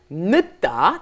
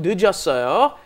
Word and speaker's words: 늦다: Notice, when it comes up against another consonant, mm-hmm. it doesn't get fully pronounced, right? 늦다, because it came up against another consonant, but then when it's conjugated, it comes up against a vowel. The zero plus a vowel makes it 늦었어요.